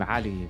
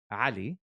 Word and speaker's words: Ali: It's because in Arabic, the name is Ali.